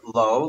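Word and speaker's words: לא: I mentioned what I told the other night, the word lo, lamed vav, and lamed aleph. They're both pronounced the same, but there are a number of places in Torah, Tanakh, where it writes lo, lamed aleph, to mean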